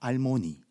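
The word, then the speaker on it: אַלְמֹנִי: 아무개는요, 알모니라고 발음합니다. 알모니.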